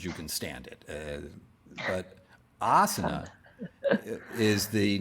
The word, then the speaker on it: asana: used to the word asana is actually frequently mispronounced as asana asana is a small hot room that you sit in for as long as you can stand it but asana is the name for a seat technically or